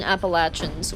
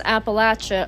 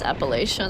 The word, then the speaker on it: Appalachian: Um, us southern Appalachins will say, "Say it as Appalacha or I'll throw an apple at you." Haha. Anyway, I hate when it's pronounced Appalachian. I'm not going to lie. But to each their own. But I love that you pointed that out and I'm glad that I can be of service confirming Appalachin as a pronunciation.